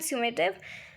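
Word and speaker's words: summative: फॉर्मेटिव एंड सिमेटिव और यू can pronounce it like समेटिव।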